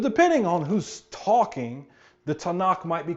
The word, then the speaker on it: Tanakh: cim which means writings you take the T the n and the K you put them together you get Tanakh it's an acronym refers